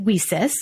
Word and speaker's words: WiCyS: often go by our acronym w-i-c-y-s and we pronounce it we sis like we cis we sisters because that's exactly